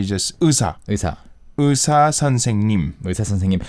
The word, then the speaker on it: 의사: It's 의사. 의사. So basically say 의. fast. Yeah. 의. 의사. 의사.